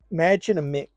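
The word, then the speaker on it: Mädchen Amick: got some people in and I recognize um magin aick is how you pronounce her name from I love her man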